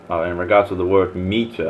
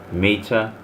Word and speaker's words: Meta: Meta. To be precise, meta is pronounced like the feminine form of the Hebrew word.